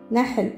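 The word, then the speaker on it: نحل: On va trouver aussi le mot nahl. Nahl, c'est les abeilles. Nahl. Alors, on a noun. On a ha. On a lam. Ça fait na, ha, l. Nahl.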